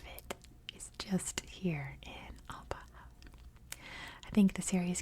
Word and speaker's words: Bahah: I'm pretty sure it might be pronounced like Bahah, like that's a really hard guttural H. But I've heard it pronounced both ways, so I could be wrong.